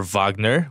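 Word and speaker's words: Wagner: of talking about Mo vogner you corrected the pronunciation for vogner which is the correct pronunciation you know I'm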